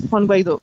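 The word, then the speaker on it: Guaidó: Yes, Juan Guaido.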